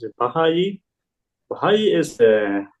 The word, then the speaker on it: Baha'i: Baha'i is how to say it, religions.